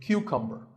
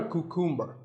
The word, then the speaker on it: cucumber: couple of vegetables now this is a cucumber it's not a cucumber think of it like saying the letter q and then cumber like number so cucumber this vegetable